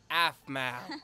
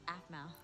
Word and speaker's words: Aphmau: Pizza delivery for Miss Aphmau? Aphmau, actually. It's pronounced Aphmau.